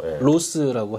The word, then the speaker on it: Roth: 그 발음이 좀 어렵네요. 네. 로스라고 하죠. 로스라고는 쉽게 표현하는데 Roth.